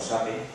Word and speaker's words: SHAPE: el de la OTAN, que se llama SHAPE, por ustedes ahí, vulgarmente pronunciado SAPE.